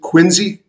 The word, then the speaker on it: Quincy: area in the southern a southern city called Quincy or as the natives would pronounce it Quincy uh and so at this time I was